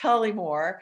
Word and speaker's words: Tullymore: Not really, but it's the story of this tiny Irish town, which I won't spell it, but it's pronounced Tullymore.